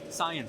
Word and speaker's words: Scion: Is it Cien or Scion? It's SciEN. Scion.